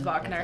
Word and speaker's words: Wagner: Yeah, it's Wagner. That's how you say his name.